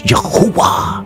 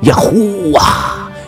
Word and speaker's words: Yahuwah: The first two letters, Yud, Hey, from Yah. Yud makes the Y sound. The second letter, he, hey, closes the first syllables, making a barely discernible h sound at the end, like a short exhale.